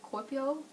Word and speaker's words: Kuopio: I'm terrible at pronouncing it. It's Kuopio.